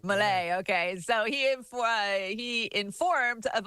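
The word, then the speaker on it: Milei: Javier I thought it was a Melanie, but it's a Malay, I think. Malay, okay.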